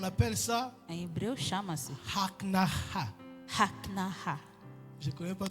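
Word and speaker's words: הכנעה: En hébreu, on appelle ça Em hebreu chama-se haknaha.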